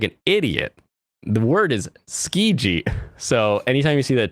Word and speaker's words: Tsuki: Oh, PewDiePie and his wife have that clothing line that's Tsuki. It's like, no, it's ski. The clothing line is ski. It means love and moon. It's not Suki. Why does he always say Tsuki?